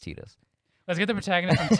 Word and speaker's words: Tidus: Like, Tidus sounds better, but it is canonically pronounced Tidus.